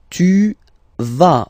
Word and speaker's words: vas: Tu vas, final S doesn't exist.